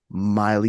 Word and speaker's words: Maile: Please welcome my friend Maile, and it rhymes with Smiley, Maile Collmer.